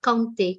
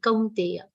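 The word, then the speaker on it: कौन्तेय: So the aghat on kaun is also very subtle, not kaunte, kaunteya. Kaunteya, the sound of your should be complete, but not dragged at the end.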